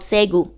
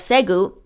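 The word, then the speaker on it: Ségou: It's called Segu. Again, I might be mispronouncing it, and it's actually S-E-G-O-U in French and S-E-G-U in English.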